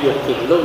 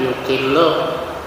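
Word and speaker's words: يُقِلُّ: Jadi yukillu bacanya kalau menyedikitkan, kalau sedikit yakillu, kalau menyedikitkan yukillu.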